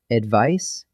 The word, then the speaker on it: advice: First, advice and advise. Advice with a C, that's a soft S sound, is a noun, a thing you give.